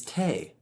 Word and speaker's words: te: So I mentioned in the preliminary class that when we flatten a solfege syllable, most of the time it takes on an A sound. T flattened is te. La flattened is le. In this case, mi flattened is going to be called me.